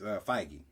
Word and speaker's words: Feige: be like the director of the Avengers movies, Feige. We assign you I on. did not know that's how you pronounce his name.